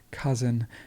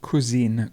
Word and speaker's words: cousin: and the word cousin cousin please notice how it's not cuisine cuisine it's cousin cousin um forgive me i just made a mistake 166.